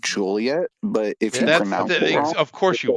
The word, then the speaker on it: Joliet: many times many manytimes from Joliet which if you pronounce it Joliet it's like an 85 Cent fine oh Fair fair enough